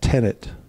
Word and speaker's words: tenet: But I didn't say tenant, I said tenet.